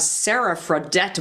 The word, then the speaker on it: Sara Fradette: so excited to have Sarah fredet with us Sarah am I saying that right I feel like I'm going to put you your name no you're saying it correctly thanks excellent and you're